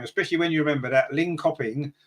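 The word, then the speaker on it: Linköping: when you remember that lean copping or Lynn shopping as I think they're pronounced in Sweden they of course are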